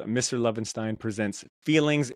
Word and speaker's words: Lovenstein: Is it Lovenstein or Lovenstein? Have I been saying it wrong this whole time? I say Stein. Most people say Steen, okay. And it does not bother me one iota.